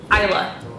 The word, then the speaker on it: Isla: The girl who was a professional crier, her real name is Isla Fisher. She's married to Sacha Baron Cohen. Oh, from Curb. Yes, that's her name, Isla Fisher. But has a silent S in it.